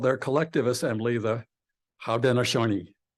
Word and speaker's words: Haudenosaunee: They called their collective assembly the Haudenosaunee. Do the best pronunciation I can. I think it's Haudenosaunee, something like that.